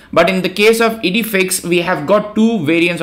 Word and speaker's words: IDEFICS: cross and engines anyways we call it edifix and I had to watch a YouTube tutorial to pronounce it correctly but the point here